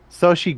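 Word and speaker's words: Xochitl: sorry Sochi Gomez who plays uh America Chavez no America yeah America yeah yeah her name is spelled X-O but it makes the sh noise so she's X oh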